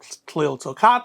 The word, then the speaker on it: Tliltocatl: But a lot of us will say Tliltocatl or something to that effect, and that's just fine.